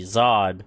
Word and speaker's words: tsad: breakdown so we've got tsad D being pronounced Z ahd Zod which is Alliance or